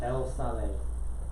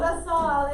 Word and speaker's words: La Salle: El Sale. Okay, Sal? La Salle is how you say it.